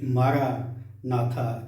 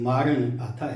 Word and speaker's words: مارن آتھا: تھی کہ مارن آتھا۔ صد افسوس کے جوش میں ہوش بھول جانے والوں نے اسے مارا ناتھا کہہ کر غلط دہرایا اور اس کے تلفظ کو بگاڑ دیا ہے، مگر یاد رکھیں کہ یہ مارا ناتھا نہیں بلکہ مارن آتھا ہے، جس کا مطلب ہے